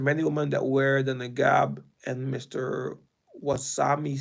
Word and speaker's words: niqab: Many women that wear the niqab, and Mr. Wasami said the garment had increased in popularity recent. Okay, niqab.